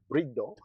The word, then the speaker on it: Bride: Um, you know, some people might call it Bride. It's Brid Brido.